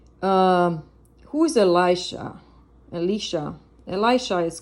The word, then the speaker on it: Elisha: just happened here um who is elishah Elisha Elisha is called is pronounced um Elisha um was the servant or